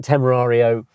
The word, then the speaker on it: Temerario: To be fair, but I like that Temerario interior. Well pronounced. I got it right.